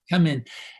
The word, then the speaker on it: Камень: Is it Kamen or Kemen? How do you pronounce it? Kamen.